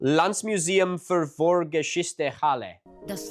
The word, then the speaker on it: Landesmuseum für Vorgeschichte: which at the time was called the- La- Landesmuseum für Vorgeschichte, Halle. [trying a different pronunciation] Landesmuseum für Vorgeschichte, Halle. (Woman): Das Landesmuseum für Vorgeschichte in Halle.